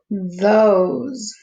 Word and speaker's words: those: Those. Those. I don't hear the E, but I hear the O. So that's a long O.